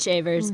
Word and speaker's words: Shavers: Excuse me, Miss Chafiers. I'm sorry. My husband's so proud right now. You butchered your last name, your family heritage. I'm sorry. She dared me. It is Shavers, but yes, nonetheless, fancy is better.